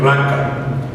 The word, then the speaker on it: raca: la palabra traducida necio aquí es raca así como se se oye raca y su significado dependía